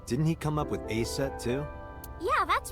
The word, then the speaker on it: Aset: Horus's mom is named Isis, but but in ancient Egyptian, it's pronounced closer to Iset or Aset.